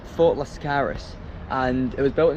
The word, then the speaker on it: Fort Lascaris: Um it's pronounced Fort Lascaris and it was built in the 17th century but it was actually very important in the Second World War.